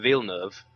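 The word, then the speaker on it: Villeneuve: earlier the only reason i know how to pronounce his name which is uh veal nerve and i said that veal nerve was a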